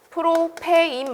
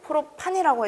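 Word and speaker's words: propane: 그래서 여기 있는 알칼라인이 전부 다 그런 발음을 뜻하는 거예요. 프로페인 말고 프로판이라고 해도 되는 거고.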